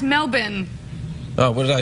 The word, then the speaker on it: Melbourne: Almost say it right. It's Melbourne.